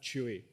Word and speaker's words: Chewy: If you're wondering how to pronounce my last name, it is Chewy.